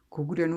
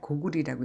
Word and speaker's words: 고구려: 고구려는 원래 고구리라고 읽어야 하는 게 옳거든.